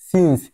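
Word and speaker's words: since: এজন্য উচ্চারণ হইছে সিন্স।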